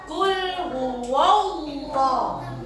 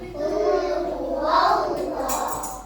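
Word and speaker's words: قل هو الله: Kalau tafkhim dibacanya te nih dibacanya te tebal. Jadi kalau ada lafaz alif fathah atau dommaah bertemu Allah lafaz Allah dibacanya te tebal tebal.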